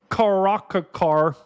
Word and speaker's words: caracara: This one, the crested caracara. I I don't even know how to pronounce that.